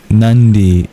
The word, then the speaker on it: Nandi: the divine named Nandi. Ironically, Nandi is just regular Ns. You don't curl your tongue back in its pronunciation but it's still uh nasal that sounds similar.